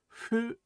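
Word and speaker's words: ふ: little bit different, but fu, fu. These are actually really similar sounds in Japanese, so be prepared to hear it either way, like hu or like fu, right?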